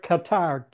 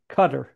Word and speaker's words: Qatar: country of Qatar, spelled like Qatar, Qatar, Mm-hmm. but they pronounce it Qatar, It's a Qatar. Qatar is the right pronunciation. That Qatar, all right. Okay, like a let's. meat cutter in a butcher shop. Yeah, it sounds like that.